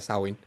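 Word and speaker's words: Samhain: link de que Samsung que se pronuncia como tú lo dijiste de manera correcta sauin era como que una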